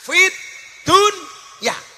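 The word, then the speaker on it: في الدنيا: Fid dunya itu sebenarnya bukan bacaan idhar, tapi idhom. Harusnya bacanya bagaimana? Fid dunya. Tapi ternyata oleh ulama disuruh membaca secara idhar. Jelas fit dunya.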